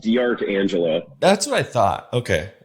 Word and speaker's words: D'Arcangelo: help how do you say entire life it's pronounced dr angela that's what i thought okay it's just one